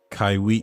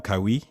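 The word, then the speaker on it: Kawhi: this is the guy kywi is how you say his name kywi kywi Kyrie this is that guy Kyrie requested yeah no it's not Kyrie Kawai L sorry Kawai yeah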